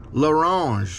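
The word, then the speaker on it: L'Orange: My last name is pronounced LaRange with an L.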